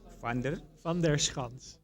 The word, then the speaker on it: Van Der Schans: is the correct what is the correct um pronunciation uh so my name is F fans fer fans okay great stuff um I guess I guess